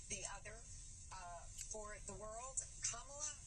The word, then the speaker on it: Kamala: Kamala rhymes with Mamala.